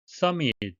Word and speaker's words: summit: Summit, M이 두 개 겹치지만 발음은 하나만 합니다.